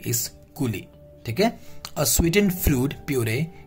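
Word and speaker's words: coulis: is you can see cool lee so the pronunciation is this not kuli is cooli okay a sweetened fruit puree used as sauce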